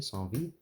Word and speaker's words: Saint-Vith: So thank you, folks in the comments, for helping me pronounce this correctly, Saint-Vith. That's the correct way to say it.